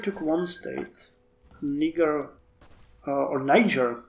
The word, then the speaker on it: Niger: one state uh or Niger because you guys tell me nature I keep pronouncing it as it is pronounced in uh my country uh Niger has been